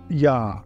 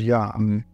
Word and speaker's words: Yah: the first first part is yah we know that because it's always pointed with an AV vow everywhere there are no exceptions so the scribal you know tradition is very clear that the first syllable is yah uh what about the